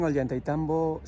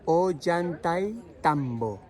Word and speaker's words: Ollantaytombo: Well, we are here in Ollantaytombo site, located in the town of Ollantaytombo, and